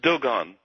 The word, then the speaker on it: Dogon: the uh the and am I pronouncing this tribe right the Doon tribe do they pronounce it like that uh Doan Doan okay tell me about this